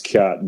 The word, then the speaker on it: khat: It's pronounced khat, but it's they reference it in Black Hawk Down.